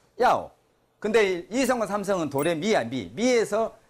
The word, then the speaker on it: 要: 要 몇 성이에요? 4성. 1성과 4성은 솔음이야. 도레미파 솔 음가. 그러니까 야오. 아까 모두 제자는 솔에서 시작한다고. 쭉 솔에서 시작한다고. 4성은 솔에서 떨어져 쭉. 야오.